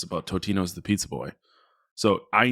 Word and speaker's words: Totino's: I think it's Totino's, but everybody calls it Tostinos. What fucking idiot is saying Tostinos? There's no S in there. It's Totino's Pizza Rolls.